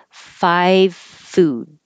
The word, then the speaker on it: five food: learn this expression but the five food is interesting because you don't need to have a good V because there's an F after it you can make the V but without voicing and that changes it to an F so you really don't hear a V at all five food five food